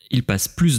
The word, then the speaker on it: plus: d'hier vous avez vu ici on prononce plus vous allez voir pourquoi c'est parce que c'est un adjectif ou un adverbe après voilà en tout